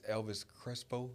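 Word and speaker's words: Elvis Crespo: I butchered this man's name. I'm so sorry. His I think it's Elvis Creso.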